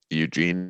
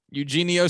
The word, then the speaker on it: Eugenio: dude good for you eugene no eugenio suarez yeah who who